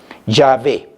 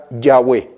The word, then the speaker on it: Yahvé: Yahvé, ese es lo que pronuncia. Algunos le dicen Yahweh, pero no es con W, como algunos lo ponen, eso es en el idioma inglés, pero no en el hebreo original antiguo.